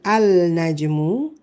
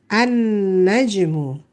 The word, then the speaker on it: النجم: We don't say al-najmu to become the star. This is najmun, a star. To make the star is not al-najmu. The alif lam still there, but the lam is silent. So what is it? It's an-najmu. An-najmu, the star.